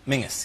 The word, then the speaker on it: Menzies: Mingus, yes. Goss. Yeah, Mingus. Yeah, but it's pronounced... It's spelled M-E-N-Z-I-E-S.